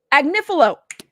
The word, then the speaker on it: Agnifilo: It's pronounced Agnifilo. Yes. Did I get it? Lovely. Lovely lady, please put a heart in the chat. Agnifilo.